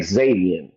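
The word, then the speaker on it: Xazavian: you to look at his name is spelled funny it's pronounced Xavier but it's like x-a-z-a-v-i-a-n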